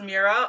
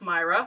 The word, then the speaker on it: Moira: I thought it was Mira. I think it's Myra, so I might say it wrong a couple times. But his wife, Moira, was a missing persons detective who investigated missing persons.